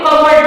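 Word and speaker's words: cupboard: होता है ये देखिए सी यू पी बी ओ ए आर डी इसको कवर्ड नहीं पढ़ते हैं इसको कवर्ड पढ़ते हैं कवर्ड या साइलेंट होता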